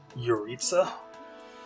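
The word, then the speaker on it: Jeritza: do have suspicions about your Itza that's how you say his name your Itza there's something about how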